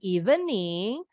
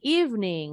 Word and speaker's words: evening: Sama dengan kalian pengucapan evening, bukan evening, tapi evening.